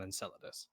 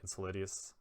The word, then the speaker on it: Enceladus: access to a Clovis Bray facility out on Enceladus.